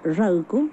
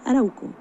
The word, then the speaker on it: Ralco: Para identificar a un sector del pueblo mapuche que se denomina Ralco, y los españoles no pudieron pronunciar Ralco, dijeron Arauco.